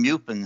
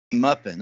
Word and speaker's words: MUFON: I know that many ufologists, including Muffin, who that is, am I pronouncing that right, Muffin, or is it Muffin? Muffin. MUFON.